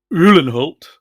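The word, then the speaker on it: Uhlenhaut: got uh the musk electrics classic Mercedes SLR ullenholt that's how you pronounce it which I had been looking at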